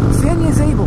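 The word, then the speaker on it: San Ysabel: I know it's not, it's made more like San Isabel, but Isabel is spelled with a Y, just to mess with you. Yazable, San Yazable.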